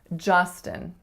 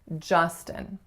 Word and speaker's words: Justin: of a oo, but it's really ja, like in just. And then the second syllable is schwa, n, or a syllabic n. So this name is Justin.